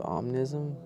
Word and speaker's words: Omnism: Omnism, I almost said it wrong, but yeah, it's Omnism, right?